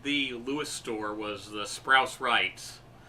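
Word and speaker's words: Sprouse-Reitz: But west of the Lewis store was the Sprouse Rights, which I mispronounced Sprouse Reeds for many years, and that's another chain.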